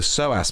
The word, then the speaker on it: psoas: It's more the psoas muscle, but it's spelled with a P.